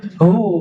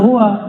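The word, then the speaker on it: هُوَ: Hu bacanya hu jangan hua kecuali disambung panjang enggak hunya lailahaillah pakai nafas enggak?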